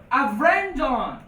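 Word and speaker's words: a Bhreandáin: So you don't say Brendan. You say Avrendon. So that V comes from this V changing.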